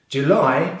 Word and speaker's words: July: July starts with the same J consonant sound as in January, followed by the short vowel U as in put.